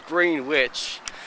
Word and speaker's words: Greenwich: the side it says Greenwich well they see for you don't pronounce the e or all the duck the W say GRE and i CH finish now this is where